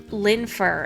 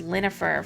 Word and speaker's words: Linfer: a long time um it was supposed to be linfer and i read it as linnifer for a long time just because i don't